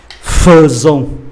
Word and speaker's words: faisons: Đây viết là AI phải không ạ? AI thì đọc là E phải không? Nhưng mà ở đây đọc là ơ. Phiên âm quốc tế viết như thế này: Faisons, đó là đặc biệt.